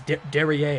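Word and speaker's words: derrière: great toy Darian derriere derriere it's derriere I don't think he pronounced the r on the end of that oh Meltzer gives it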